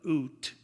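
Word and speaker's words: Ute: high school athletic association doug oot that's spelled u-t-e the executive director will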